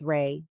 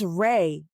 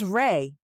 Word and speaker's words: Rey: His name isn't Ray. Kim advises. Oh, I'm so sorry. I thought you called him Ray. It's Rey. R E Y. You are saying it wrong. It's Rey.